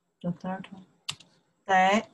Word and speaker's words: 得: 得, the third one.